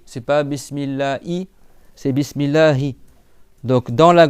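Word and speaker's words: بسم الله: Après, tu as le ha. Bismillahi le ha il est en bas de la gorge. C'est bon, c'est une lettre qui existe pas en français. Donc c'est pas bismillahi, c'est pas bismillah i, c'est bismillahi.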